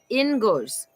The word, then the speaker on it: Inguz: So it's pronounced inguz.